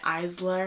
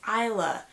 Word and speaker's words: Isla: like I think for a while I was pronouncing it iyslah or something like that and it's Isla and I think that is so pretty like